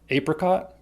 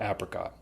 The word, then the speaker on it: apricot: It's called apricot or apricot. I don't know if one pronunciation is more common. I think they're about the same.